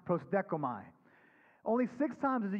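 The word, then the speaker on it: προσδέχομαι: And it's this Greek word that's pronounced prosdekomai.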